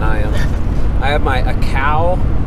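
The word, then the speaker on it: açaí: am I have my a cow is how you pronounce that acai blueberry pomegranate there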